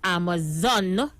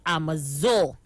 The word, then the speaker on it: Amazon: saying please tell kingsley it is amazon not amazon i didn't even realize he pronounced it wrong so kingsley it's amazon not amazo yeah aisha kinsey can i